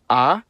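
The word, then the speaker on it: а: The cerillic version is called ah and makes the sound a uh I won't say anymore as I don't want to accidentally anger the actual creators of this letter.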